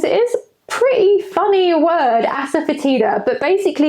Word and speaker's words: asafoetida: is pretty funny word, asafoetida, but basically you spell it just in the same way that you say it, asafoetida.